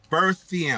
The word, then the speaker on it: Berthiaume: is one 80-year-old Gary, I think we say this right, Berthiaume. I want to say it right. It's Berthiaume. I'm going to put the name on the bottom of the screen so you'll get the gist of how to say his name or pronounce it right.